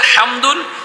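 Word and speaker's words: حمد: একটা ফায়দা হবে হামদুন হামদুনের মধ্যে যে হা আছে এটা কয় নাম্বার মাখরাজের হাম এক নাম্বার মাখরাজ একটা হা আছে না দুই নাম্বার মাখরাজের হাটা আছে সেটা দিয়ে উচ্চারণ করলে হামদুন অর্থ হল তারিফ করা প্রশংসা করা তারিফ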